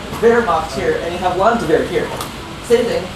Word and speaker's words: Landwehr: So you had Wehrmacht here, and you have Landwehr here. Same thing, the D is pronounced like a T, so Landwehr.